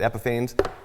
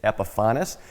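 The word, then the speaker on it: Epifanes: epifaño and yes it's everybody pronounces it Epiphanes but if you call and talk to them they will correct you it's technically it's epifaño as well as a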